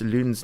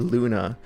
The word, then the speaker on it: Lune: I actually started to pronounce Lune's name correctly. I just realized how many times I said Luna last time.